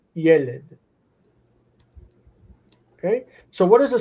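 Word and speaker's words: ילד: So the steps were yald as a consonant cluster, and then yalid, and then yelid.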